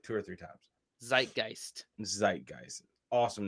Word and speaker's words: Zeitgeist: some other languages too Americans usually say Zeitgeist in German we pronounce it tight gist and this consists of